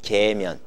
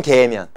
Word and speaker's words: 계면: 성층권 계면. 얘하고 얘 사이는 뭐라고 할까? 요거는 중간권 계면. 무슨 말인지 이해 갔어? 경계면 이름을 붙일 때 밑에 층의 이름에다가 계면을 붙이면 된다고. 네. 발음 정확하게 하세요. 면입니다. 년이 아니고요.